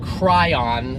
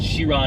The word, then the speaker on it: Chiron: onto the bus here it is not the Bugatti cry on that is life in the correct order of letters a little dyslexic baby but it's not sure I'd tirean tirean tirean yeah I'm in Israel I thought it was Kyra no to four sided I yeah but its sheer on its French and then uh it's